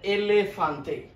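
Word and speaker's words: elefante: এটার উচ্চারণটা হবে এলেফান্তে, একমে এলেফান্তে।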